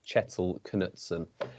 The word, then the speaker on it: Kjetil Knutsen: is norwegian chettle knutson i'm going with on the pronunciation bit of a difficult one but i've looked at a couple of sources and i think it is chettle knutson um jacob initial reaction